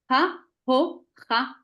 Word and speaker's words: ההוכחה: ההוכחה. ההוכחה. ההוכחה. Écoute, Odile. ההוכחה. ההוכחה. Voilà. Mais j'avais dit ההוכחות. Oui, parce que on dirait que tu dis les chet en deuxième syllabe et pas en troisième.